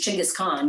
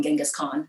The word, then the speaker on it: Genghis Khan: 13th century-ish you know it was chingas khan genghis khan depending on how you pronounced it he you know it